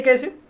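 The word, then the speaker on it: cache: कैसे मेमोरी या कैचे memory भी कुछ लोग बोलते हैं, पर कैसे जो है वो ज्यादा शुद्ध है अकॉर्डिंग टू प्रोनाउंसिएशन। तो ये कैसे मेमोरी है क्या?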